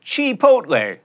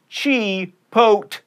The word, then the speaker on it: Chipotle: You get guacamole or guacamole at Chipotle. That's right, Chipotle.